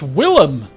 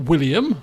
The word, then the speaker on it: Willem: Oh, it's Willem. Not William. It's Willem. Right, Willem.